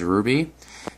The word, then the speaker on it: RWBY: from the series RWBY otherwise pronounced as Ruby now this figure it's